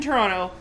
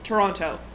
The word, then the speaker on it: Toronto: Because he's like, if you live in Toronto, you do not pronounce it Toronto. You call it Toronto. And there's no way about it. Like, one way or the other, it's just Toronto. Short, sweet, to the point.